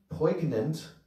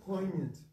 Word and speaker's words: poignant: Jaiva Dharma gives an unprecedented and a poignant, is that how you pronounce it? Poignant. Poignant. Okay. I always thought it was poignant.